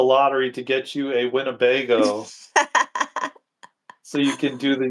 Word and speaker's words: Winnebago: Winnebago. Winnebago.